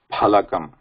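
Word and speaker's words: फलकम्: Yeah, so yeah, just bear it because sometimes I pronounce it as fa, which is not correct because I'm used to that now here. It is Phalakam.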